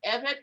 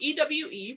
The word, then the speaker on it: Ewe: and it's called the evan pete well he wrote ewe but i'll pronounce it the right way it's called the eva people of german togoland now